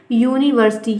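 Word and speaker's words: university: तो आपको पता है कि यहाँ पर हम ए फिल करेंगे, क्योंकि ये यू से भले स्टार्ट है लेकिन ये लिखा जाता है यूनिवर्सिटी, या से। तो या जो है वो एक कॉन्सोनेंट है, तो हम प्रोनाउंसिएशन पर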